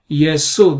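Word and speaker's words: Ἰησοῦ: by that name yesu this is how it is pronounced ye Su uh and uh why uh why it is Su and not Shu uh it's because there is no Sha sound in Greek only s sound and therefore they write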